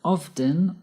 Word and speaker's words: often: we use the adverbs often or frequently often can be pronounced two ways by pronouncing the T often or by not pronouncing the T of both forms are